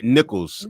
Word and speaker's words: Nicholas: It's pronounced different than it's spelled.